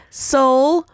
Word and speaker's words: Seoul: and the slogan is soul my soul yes in English if I pronounce it like that it Rhymes but um it sounds the same it's soul my soul